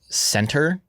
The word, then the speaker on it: Centre: I would say, I think their name is Center, but it's spelled Centre.